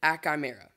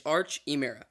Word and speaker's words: Archimera: But getting into this video, starting out with Achimera. I don't think that's how you actually spell his name. Sorry, say his name. It's Archimera.